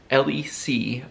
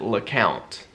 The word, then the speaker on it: Lecompte: me well it like our family pronounces it le count but i i have come to say lecompte because that's how it's spelled otherwise people are like